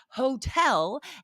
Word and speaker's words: hotel: But again, hotel and history do break those because we do say the H.